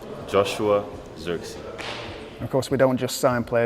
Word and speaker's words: Joshua Zirkzee: hi this is how you say my name Joshua xery of course we don't just sign players we